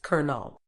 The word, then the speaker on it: colonel: mischo not mischievous Colonel this one's weird it's pronounced colel coupon say coupon not copon data both data